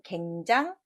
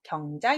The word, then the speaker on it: 경장: 보십시다 정답은 자 병장 굉장 아닙니다 경장 입니다 예 고칠 경 다시 개 인데 여기서는 다시 안고 7 경 자를 읽었습니다 경장 이라고 하는 것은